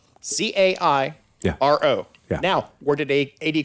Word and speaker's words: Cairo: Cairo. Yeah. Now, where did A.D. Crawford live? Cairo. He lived in Cairo, like the syrup. Just like the syrup.